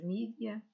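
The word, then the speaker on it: media: E o jornalismo, ou os meios de comunicação social, os mídia, que em inglês se escreve com E e eu leio à inglesa e acaba por ser como se fosse em português do Brasil, com I, mas os mídia, ou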